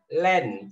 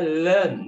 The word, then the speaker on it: learn: Nice lagi ya dibaca Ini kebanyakan bacanya Land tetapi dibaca learn ya now we are going